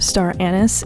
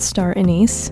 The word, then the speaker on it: star anise: old when I learned that this is actually pronounced star anise and not star anise but anyways star anise is great for Soups